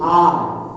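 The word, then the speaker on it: hour: And don't use however, we should use R. Because H, though it is a consonant, the sound pronunciation we should use as R sound. And R is the correct word.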